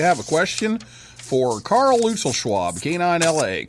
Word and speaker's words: Luetzelschwab: Yeah, for what it's worth, we've kind of Americanized it, I guess. We pronounce it Luetzelschwab, but they even pronounce it different over in Switzerland.